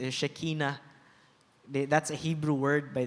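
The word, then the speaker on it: Shekhinah: Scuropyaw sa Old Testament shikina or more popular saong pangalanon sa Pilipinas Shikina ba ang original ng pronunciation is Shekina that's a Hebrew word by the way means the glory the brilliance of God.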